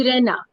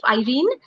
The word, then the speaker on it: Irene: So many people here call me Irena. So they Irene. call my name Irena, but I call myself Irene.